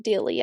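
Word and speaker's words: Dealey: it might be called de Square don't remember it's spelled D e a l e y That's Dilly I think yeah I think you're right anyway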